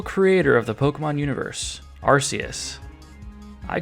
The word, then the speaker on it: Arceus: But it's actually Arceus. That's right, Pokémon Legends Arceus, not Arceus.